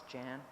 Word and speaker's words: Janne: is Jan um it's actually y it's a Norwegian name but no one in throughout my whole life has been ever been able to pronounce that so um it's Jan and um I was